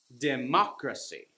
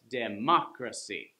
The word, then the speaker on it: democracy: word democracy and it's the third from the last so we have democracy that means this one right here ma gets the the syllable stress democracy okay here's some more